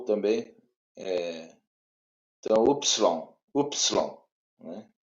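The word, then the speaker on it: υ: Y, som de U. isso, exatamente. Né? Então é o Y. A melhor pronúncia assim, que fica mais fácil para a gente é o Y, né? Ele pode ter Uhum. o som de U, de I, dependendo do contexto de I, né?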